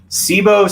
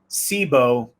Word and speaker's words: SIBO: that a little bit more what is sibo sibo stan sibo is spelled s-i-b-o and it stands for small intestine